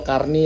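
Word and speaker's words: carnet: Nah dari situ baru kita bisa mendaftarkan CPD-nya atau karnetnya itu, atau karni lah kalau bahasa dibaca. Tulisannya karnet tapi dibacanya karni karena bahasanya bahasa Prancis ya, karena bahasa Prancis.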